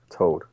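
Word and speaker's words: Tod: It sounds like it's not spelled the same, but it sounds the same way as if you say dead. Toad.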